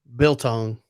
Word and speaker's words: biltong: Biltong.